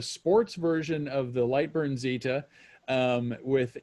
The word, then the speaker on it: Zeta: This is a Lightburn Zeta, or is it Zeta, should I be saying? Zeta's the proper pronunciation.